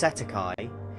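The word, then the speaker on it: cestui que: This is commonly referred to as cest tuiquy trust pronounced setti and in the United States of America or Canada it's known as straw man.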